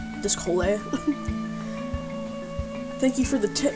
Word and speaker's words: Descole: DSC Hole but pronounced like Chipotle. Descole. Descole.